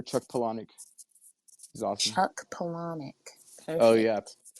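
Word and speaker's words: Palahniuk: Panic he's awesome Chuck Panic perf oh yeah Panic sounds like like you know colonic but it's spelled really weird p a h l UI k something like that a right conspiracies why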